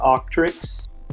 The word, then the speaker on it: Auctrix: Well, I run a history page on Facebook and Instagram called The Octrix. That's spelled AUCTRIX.